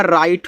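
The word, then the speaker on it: write: डब्ल्यू को silent रखना है। तो बचेगा आर आई टी ई। देखो आई टी ई आपका आइट है तो आर लग जाएगा तो आपका राइट हो जाएगा और इस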